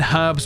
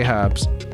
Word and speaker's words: herbs: you will enjoy britz pronouncing the H in herbs weirds me out it weirds you out